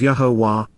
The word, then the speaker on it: Yahowah: written and verbal proclamations, of Yahowah, the proper pronunciation of the name of Yahuwah, our Eloah, God as